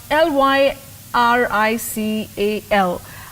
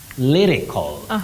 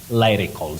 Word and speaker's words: lyrical: about that one oh Betty you say Lee not lie uhhuh lyrics lyrical not lyrics and not lyrical so you say a lyrical okay will I can't